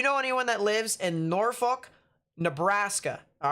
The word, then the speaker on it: Norfolk: has been issued pds severe thunderstorm watch it's pronounced norfolk all right i'll pronounce it more like that